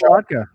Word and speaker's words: Kolodka: and his last name Kalodka? Vodka. Yeah, rhymes with vodka. Oh, okay, exactly. I had a pina colada. What was his name? That's right. Dwayne Kolodka.